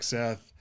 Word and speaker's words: Seth: today we have Deepak Seth hopefully I said there right perfect yeah so say it rhymes with 8 but the way you